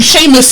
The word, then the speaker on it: Seamus: Have you seen the way Seamus is spelt? It doesn't make sense. It does not say know. Seamus. It's in their Seamus. language. It's Seamus. Seamus. That's how it's pronounced.